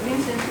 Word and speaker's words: Vincent: Eu estou falando Vincent porque eu vi que a pronúncia não é pronúncia em inglês, não. A pronúncia lá no holandês está lá. O Google me disse que é. Em holandês, Vincent é Vincent mesmo.